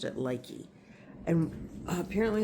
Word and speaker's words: Lykke: She called she pronounced it Lykee.